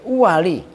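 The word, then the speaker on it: الأُوَل: Wa annaha dan sesungguhnya alamiah syartun itu sebagai syarat fit thalathatil uwali. Awas bacanya bukan awal tapi uwal.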